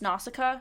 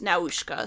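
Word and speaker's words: Nausicaä: love that too in the English version It's pronounced nausicaa so okay just just so you're aware yes because I watched the Japanese version and it was now ushka so that's that's where the variation comes in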